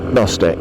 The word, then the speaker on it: gnostic: front of agnostic yes you've got the silent G it makes it AG Gnostic if the atheist and